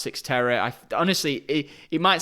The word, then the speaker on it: Cyxtera: spelt like this and it's pronounced six terror i honestly it it